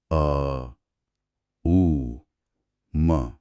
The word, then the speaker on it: ॐ: एक गहरी सांस अंदर लें और फिर सांस छोड़ते हुए धीरे से ओम का उच्चारण करें। अ उ म पूरा ध्यान उस ध्वनि और उसके कंपन पर रखें।